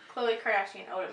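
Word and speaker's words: Khloé Kardashian Odom: So when she pronounces it, it's Khloe Kardashian Odom. It's not hyphenated.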